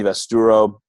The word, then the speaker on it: Vasaturo: on here today and his name is Tony vest Errol said how you pronounce it yes sir that's correct cool go